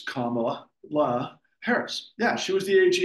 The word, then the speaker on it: Kamala Harris: Kamala Harris. And you said it correctly. It's Kamala Harris.